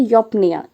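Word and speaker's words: eupnoea: अब इसका जो प्रोनाउंसिएशन है वो है योप्निया, ईयूपी इस तरह से। तो योप्निया कहते हैं इसको, ऐसा कहा जाता है।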